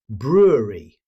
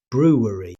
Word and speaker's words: brewery: Many learners mistakenly add a W sound. Instead, native speakers usually say brewery. Keep the word flowing smoothly without saying brewery.